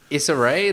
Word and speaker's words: Issa Rae: Issa Rae, that's how you pronounce her name.